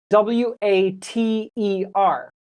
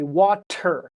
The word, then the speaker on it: water: W A T E R. In my accent, an American accent, we do not say water. We say water. It sounds like du du du water.